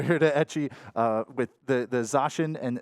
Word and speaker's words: Zacian: Yeah, I got to give it over here to Etchy with the Zacian and Zamazenta, right? Did I say it right? Yes, you did. I did. I said it right. Zacian and Zamazenta, Pokemon-themed Switch here.